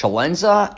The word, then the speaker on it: Celenza: All right, welcome to the CELENZA Show. I'm CELENZA, and the show's called WTF Are You Talking About?